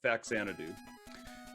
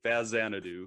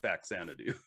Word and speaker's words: Faxanadu: lot and that's uh faxanadu um and i should say fazzanadu because i think that's the proper way to uh pronounce it but i always called it backsanity um did you yeah